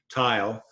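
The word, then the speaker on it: Theil: the work of Henry tile and boot in the review of the International Statistical Institute there's a picture of Henry towel tile you pronounce his last name T IL e although it's spelled tae-il one of the prominent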